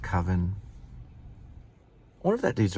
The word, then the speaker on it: Coven: It's supposed to be pronounced Coven.